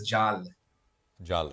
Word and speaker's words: Jal: and further uh and jeal as you said sorry short conversation but as you said sorry just just a clarification pronunciation of my name is Jal sorry apologies Jal and